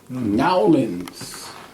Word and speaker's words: New Orleans: Nowlands. I'm from Nowlands. Mm-hmm. That's how they say it down there. Nolans. Nowlands. N-A-W-L-I-N-S. They don't say New Orleans. They say Nowlands.